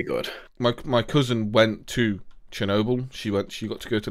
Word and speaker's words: Chernobyl: Chernobyl. Chernobyl, okay. I've heard both pronunciations of sh with like an S sound and ch.